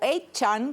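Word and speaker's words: 8chan: conocidos los más comunes se llaman for Chan se escribe cuatro Chan o e Chan que se escribe ocho Chan donde se reúne gente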